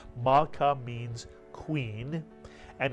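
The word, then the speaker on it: מלכה: What would the first syllable be? Mal is correct. The shva under the lamed tells you to add the lamed to the preceding letter and vowel, ma, to make the entire syllable mal.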